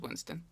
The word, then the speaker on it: WIINSTON: I saw it was 2 I's, and I wasn't sure how you pronounce it, but I was pretty sure it was Winston.